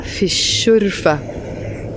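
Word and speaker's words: في الشرفة: So to say I am in the balcony, you're going to say ana fi ash-shurfa. But we join them together to make the pronunciation better. So we say ana fi shurfa.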